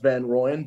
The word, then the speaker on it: Van Rooyen: It is pronounced Van Rooyen, but no, I'm super happy with the big Roo chant that comes up.